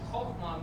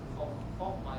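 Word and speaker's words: חָכְמָה: And I'm sorry, I pronounced this chokhmah, it's actually chokhmah. So the last syllable is accented.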